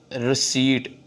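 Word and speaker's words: receipt: रिसीट, पी नहीं बोलना, P silent है, रिसीट, रिसीट आ जाएगा यहाँ पे, ठीक है।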